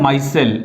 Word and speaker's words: micelle: तो प्रोनाउंसिएशन कैसे करेंगे, मिसेल नहीं होता, ठीक है, मिसल पाव अलग डिश हो गया, ये माइसेल्स होगा, ठीक है।